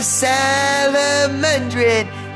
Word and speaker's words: Salomondrin: Welcome back to yet another episode of Salomondrin. That's right, that's how I pronounce it.